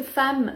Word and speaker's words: femme: l'erreur ici parce que femme s'écrit avec un e mais se prononce comme un a femme en revanche dans